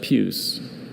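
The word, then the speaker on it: puce: Uh, just puse. Can you repeat all the information again, please? Certainly. Puse has just the one pronunciation.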